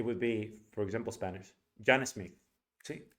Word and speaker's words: John Smith: So you're going to say it like this: John Smith. You're going to pronounce it dog and then kid.